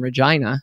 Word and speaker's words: Regina: that I actually met professionally who lived in Regina. Did I pronounce that right?